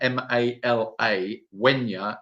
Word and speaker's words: Malagueña: It's spelled Mala, Mala. Gueña is Gue with an Enya, with a little N with a squiggle on top, A. So Malagueña.